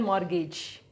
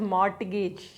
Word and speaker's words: mortgage: i kept it on mortgage we don't say it as mortgage t is silent here mortgage so i kept this